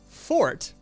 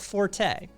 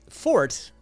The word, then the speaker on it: forte: the room um um fort not forte fort pronounced spelled f-o-r-t-e pronounced fort is a derived from english uh etymologically derived from